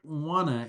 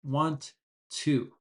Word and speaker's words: wanna: And remember, wanna, when we speak fast, is want to. So, if you're speaking slowly, you might say, I don't want to insult anybody, but the natural way is wanna.